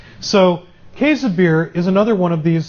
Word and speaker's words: Käsebier: Am I close on that? Oh, our German student is not here. I was going to try my German pronunciation. I've learned it. I've learned it a couple of different ways. Käsebier is the way I've kind of settled on.